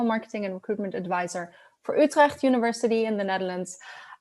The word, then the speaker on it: Utrecht: and recruitment advisor for Utrecht University in the Netherlands. Utrecht is always very interesting to pronounce with the hard G that we have going on.